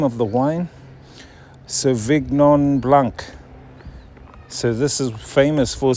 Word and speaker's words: Sauvignon Blanc: Sauvignon Blanc.